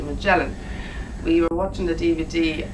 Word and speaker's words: Magellan: I was pronouncing the name of the cruise ship wrong. Apparently it's not Magellan as we thought it was, it's actually Magellan.